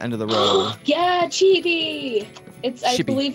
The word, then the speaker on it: chibi: Yeah, chibi. I believe it's pronounced chibi.